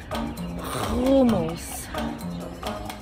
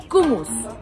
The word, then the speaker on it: hummus: You need to say it right, to eat it right. Hummus. Kumus. Lo. Hummus. Hummus. Ha, from the epiglottis.